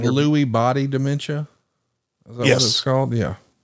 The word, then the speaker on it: Lewy: Am I pronouncing it right? Lewy body dementia?